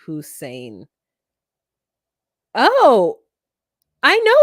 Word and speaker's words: hoisin: laugh when you say hoisin that's a sauce we use on duck it's pronounced hussein oh i know it's